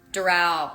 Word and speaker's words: Doral: So, accent on the A. Doral? Doral.